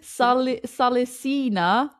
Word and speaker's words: salicina: It said prunus rhymes with munus and salicina.